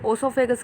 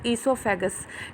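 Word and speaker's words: oesophagus: तो बच्चों, ओ साइलेंट होता है, इसको ओसोफेगस कहने की जगह इसको बोलो ईसोफेगस।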